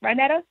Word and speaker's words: Rynetta: Did I say it right, Rynetta? Yes, you did.